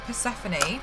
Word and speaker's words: Persephone: Even if it's things like Persephone, which I've learned is the correct way to pronounce that, thanks to Meg shouting at me.